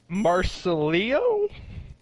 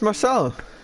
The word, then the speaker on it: Marcelo: Marcelio? All right. Marcelio? I am being told to try and try and pronounce somebody's name in the chat. It's Marcelo.